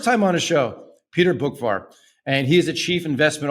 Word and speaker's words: Boockvar: on today first time on the show Peter bookvar and he's a chief investment officer over at